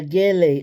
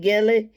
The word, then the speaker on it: gele: She even went and got a gele. Is that how you pronounce it, gele? Because I don't think the G is pronounced like H. I think it's called Gele, Gele.